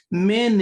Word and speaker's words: Menes: yes so that title men is the same as the so-called menes the S is silent okay we don't pronounce that S at the end so it's men it's